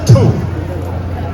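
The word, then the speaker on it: 兔: wherever and whenever thank you in Mandarin rabbit pronounced two has the same pronunciation as journey to except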